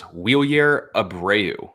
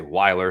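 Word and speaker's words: Wilyer Abreu: One for me, I'm going, if you look at MLB's pronunciation, it is Wheelier Abreu. Yep. Some will say Weiler, some will say Wheelier, whatever. But per the pronunciation, Wheelier Abreu. He's everyday player right now for Boston.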